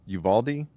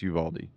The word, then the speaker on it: Uvalde: funeral homes in uvald Uvalde I hope I I keep questioning myself that I'm saying it correctly I think it's Uvaldi go ahead uh have